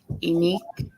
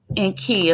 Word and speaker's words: EnQi: Um, Unique. Is that correct? EnQi? EnQi, there you go. EnQi, okay. So sometimes my pronunciation is whack, but I'm getting better every day.